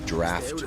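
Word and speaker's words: draught: think these are called draft horses it's spelled weird though like it's not spelled D R A F T it's d r a u g HT that's what you call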